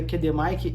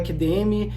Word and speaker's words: QDM: com alfabeto fonético mas a pronúncia correta Aqui no Brasil é assim mesmo é KD Mike e qdr não é qdm e não é qd Romeo é KD Mike e